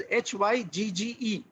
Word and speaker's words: Hygge: It is pronounced as Hygge.